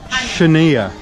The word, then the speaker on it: Chania: price in all of chenia CHA and ha the x is a CH s wait a minute ha that's how you say it that's how you okay